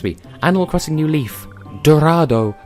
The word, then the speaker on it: Dorado: Animal Crossing new Leaf Dorado does not rhyme with motto learn to English you